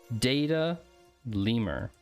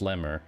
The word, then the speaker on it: DataLemur: that platform's name is data lemur that is the name of the platform chat and don't say it's pronounced lemmer cause i'll i'll ban